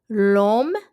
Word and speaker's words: l'homme: Je suis l'homme. Je suis en Indiana. Je ne suis pas en France. Où es-tu? L'homme aime les pommes violettes. L'homme means the man. The H is silent.